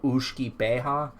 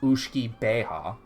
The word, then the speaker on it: uisge beatha: but it comes from a Gaelic term called Uisce Beatha. That's how you pronounce it. It's spelled Uisge Beatha, 2 words. Uisge, 1 word. Beatha, 2nd word. And it's pronounced Uisce Beatha.